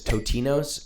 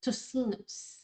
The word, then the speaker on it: tocinos: Also, a lot of the crew kept calling this totinos, and now I understand why you all judge my pronunciation so often, so thank you for that. Moving on to what looks like Tocinos.